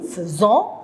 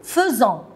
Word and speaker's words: faisons: Nous faisons. Regardez les enfants, faites attention. F-A-I, mais je prononce feu.